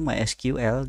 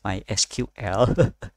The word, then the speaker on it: MySQL: Nah, cuman misalkan di MySQL dia tuh negasin tuh the official way to pronounce MySQL is ya itu disebutin MySQL jadi satu-satu, bukan bukan MySQL.